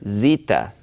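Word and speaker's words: Ζήτα: a difference so after Epsilon is the letter Zita and Zita has a little Loop thing at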